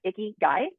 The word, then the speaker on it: ikigai: up on us it guy like icky guy but it's spelled i-k-a-g-a-i I think anyway it's the intersection of